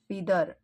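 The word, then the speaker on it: feather: म्हणजे शेतकरी त्यानंतर आहे फिदर फिदर म्हणजे पंख किंवा पिसे त्याला फेदर पण म्हटलं जात आणि फिदर पण म्हटलं जातं दोन्ही प्रोनन्सिएशन करेक्ट आहेत नेक्स्ट आहे फास्ट फूड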